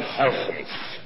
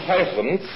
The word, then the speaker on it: Huygens: I'm going to pronounce it the way he did.